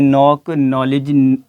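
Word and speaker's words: knock: एन आ गया है, तो ऑटोमेटिकली जो वहाँ पे जो के की वॉइस है वो हज़फ हो जाएगी, वो साइलेंट हो जाएगी, उसको पढ़ा नहीं जाएगा। इस तरीके से नॉक, नॉलेज और नो की तरह।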